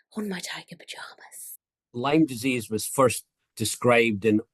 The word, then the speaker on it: Lyme: actress Jenny Jax uncovers lime with Professor Jack Lambert before we begin I